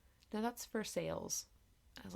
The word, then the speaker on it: Versailles: and I said something I was like oh Versa and my mom I think was like no that's for sale I was like not for sale no it's